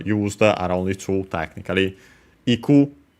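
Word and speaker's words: 行く: Iku, unaccented, the verb to go. The alternative form for that, yuku. Yeah, it's straight up simply a different pronunciation, but it's the same technically.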